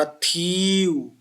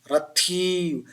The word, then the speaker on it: रथिव: तो थी का उच्चारण कंपन युक्त होना चाहिए, कंपित होना चाहिए। रथिव, रथिव सबसे ज्यादा जोर किसमें लग रहा है, थी में लग रहा है।